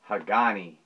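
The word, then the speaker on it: Hagane: but that is uh everybody pronounces it as hagani but i don't like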